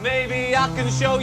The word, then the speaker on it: Depeche Mode: off the xent and we just kept the pronunciation may show just how dep